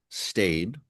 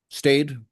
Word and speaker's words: Stade: Stade. Stayed, not stad stayed.